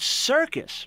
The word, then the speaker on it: circus: in the same word the word circus right a soft seesaw and a hard seat cut how do you know